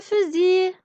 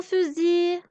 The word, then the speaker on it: fusil: Regardez, c'est le fusil. C'est le mot fusil. Je mets Z au-dessus de S. Le S entre deux voyelles devient Z et je ne prononce pas le L.